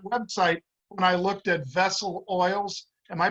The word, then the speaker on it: VESL: Isiah, your son, like I said, I was looking at that website when I looked at Vessel Oils. Am I pronouncing that right?